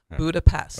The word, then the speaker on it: Budapest: all right because we'll we pronounce the S sound s yeah but in Hungary they pronounce the S as an S that's just crazy so you will hear hungarians say budapes okay so if you